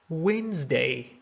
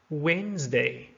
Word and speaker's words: Wednesday: Comb, comb. Talk, talk. Wednesday, Wednesday. Right, right. So all of the letters in red are silent.